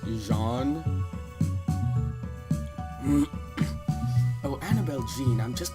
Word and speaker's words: Jean: there's a guy named Jean but it's actually pronounced Jean oh Annabelle Jean I'm just being friendly it's